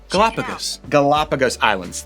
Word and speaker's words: Galapagos Islands: Galapagos Islands.